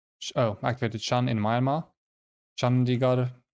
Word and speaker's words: Chandigarh: Chandigarh. They don't say R. I think they do more like a retroflex R, by which I mean